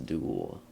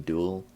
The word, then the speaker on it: duel: It's time for us to duel. You mean duel? Yeah. That's what I said. No, you pronounced it with a UA sound instead of a OO sound.